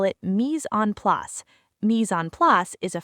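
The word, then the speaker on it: mise en place: Professional chefs call it mis on plus. Mis on plus is a French phrase pronounced mis on plus that means everything in its place.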